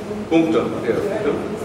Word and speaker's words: Punctum: How do you pronounce it? Punctum.